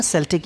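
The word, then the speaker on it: Celtic: सेल्टिक revival बड़ा famous है डब्ल्यू वी येट्स के समय, है ना, सेल्टिक या केल्टिक दोनों प्रोनाउंस किया जाता है उसको।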